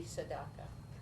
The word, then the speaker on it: tzedakah: And that would be tzedakah.